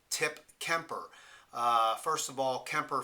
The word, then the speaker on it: Tip Kemper: that as an example tip keer now first name's one syllable second name two syllables so if you play